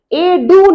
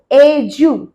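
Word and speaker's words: education: এডু নয় ই এর পর ডি আছে কিন্তু উচ্চারণ কি? এজু এজু যেকোন টাইমে গুগ এ গিয়ে এডুকেশন প্রনান্সিয়েশন এইটা লিখে টাইপ করো।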